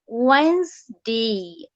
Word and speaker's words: Wednesday: মানে প্রোনাউন্সিয়েশনের ক্ষেত্রে আবার বানাম যখন খাতায় লিখতে যাবো এটা লিখবে না, আমি প্রোনাউন্সিয়েশন ওয়ার্ড গুলো বলে দিচ্ছি তোমাদের। ডাব্লিউ, ওয়েন্সডে, ওয়েন্সডে, ইয়েস ওয়েন্সডে, ও হবে না ভাইয়া যদিও ডাব্লিউ, তবে ডাব্লিউ প্রোনাউন্সিয়েশনটা ওয়ের মতো শোনায়, ওয়েন্সডে।